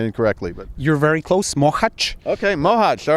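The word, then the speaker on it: Mohács: Now, what are the experiences in Mohacs and I may be pronouncing it incorrectly, but you're very close. Mohacs.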